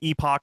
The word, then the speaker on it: epoch: youtube channel um is epoch philosophy uh epic okay yeah either way either way works i think you can pronounce the word uh both ways um twitter instagram is